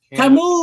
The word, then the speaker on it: Camus: And we've been corrected. It's Camus. Camus or Camus.